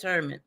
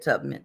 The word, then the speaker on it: Tubman: Okay, I I made it say Harriet Turman.